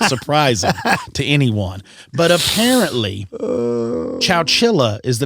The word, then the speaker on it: Chowchilla: Chowchilla.